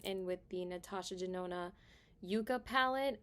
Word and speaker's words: Yucca: with the Natasha denona Yucca palette I've been saying it wrong it's the Yucca palette not the Yucca palette so it's like when you say Yucca you're like oh yucky palette you know so I'm